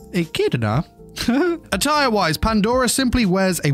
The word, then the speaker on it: Echidna: I got told off for pronouncing that wrong last time. Echidna.